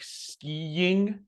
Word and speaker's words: skiing: I think other examples I gave in the guide are like skiing, which is notoriously difficult to pronounce. But if you kind of envision a little Y sound between the I's, it's actually super helpful.